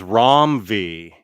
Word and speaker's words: Ram V: Oh, I think Ram V is pronounced the same as Rom V. Well, he was nice not to correct us when we interviewed him because I kept saying Ram.